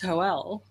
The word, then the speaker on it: Joel: Which actually makes sense in the last book because it's like, there's Hoel, pronounced Hoel. I'm like, in the Spanish tradition.